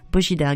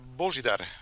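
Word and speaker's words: Božidar: parler aujourd'hui, nous avons un invité très spécial, Bojidar Grils. Hello, hello. Hello. You hear me? Yeah. Okay. Yeah, absolutely. Bonjour. Pour commencer, je voudrais savoir comment on prononce votre prénom. Bojidar.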